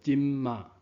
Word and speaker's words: 今兒: 实时也就是今，今啊连读做今嘛。